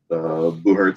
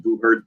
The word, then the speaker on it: buhurt: I think it was called Battle of Nations, and if you look up, I think it's pronounced Buhurt, Buhurt, you'll find people.